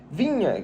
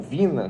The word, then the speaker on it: Viña: começar falando do Matias vinha jogador ou Vina como você quiser pronunciar muita gente pronuncia dessas duas formas um jogador uruguaio de